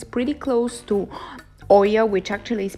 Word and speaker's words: Oia: in this area because it's pretty close to Oia, which actually is pronounced Pia, and to other cities such as Piero Stefani and Imerovigi. You just came back from Oya and it's our first day in here, and